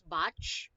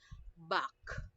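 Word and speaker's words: Bach: it back okay back I don't want to hear anyone saying it's batch ah it's not much but back okay next one oh we have this one we have 13.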